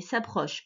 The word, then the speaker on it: s'approchent: Toujours pareil, le ENT ici, tu ne le prononces pas, c'est la conjugaison du verbe s'approcher. Donc les animaux affamés s'approchent souvent des villages pour trouver de la nourriture.